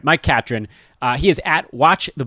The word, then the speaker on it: Catron: Mike Catron.